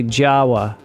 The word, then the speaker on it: Java: rockas bitong in Jawa it's spelled like Java but you say Jawa in the Dutch East